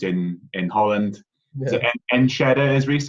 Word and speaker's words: Enschede: Is it Enschede, is Reece how you pronounce it? Yeah, Enschede, yeah.